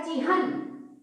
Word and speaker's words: चिन्ह: तो बिना पाई वाले हा हो गया, दा हो गया, तो हम इसको कैसे प्रोनाउंस करेंगे, जैसे मान लीजिए हमको चिन्ह लिखना है, ठीक है, और अगर हम ऐसे लिखते हैं तो ये क्या बोला जाएगा, पूरा ये बोला जाएगा चिन्ह। क्या, अगर हम ये लिखते